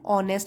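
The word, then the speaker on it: honest: example के तौर पर एन ऑनेस्ट यहां एन लगा है आर्टिकल क्योंकि यहां पे जो है वॉबल साउंड है ऑ एच जो है वो साइलेंट है इसलिए यहां पे एन है एन ऑनेस्ट एक ईमानदार वफादार ड्यूटी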